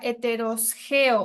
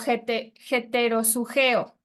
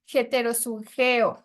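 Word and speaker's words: ἑτεροζυγέω: La palabra yugo desigual es una palabra griega y se pronuncia heterosgeo o heterosugeo.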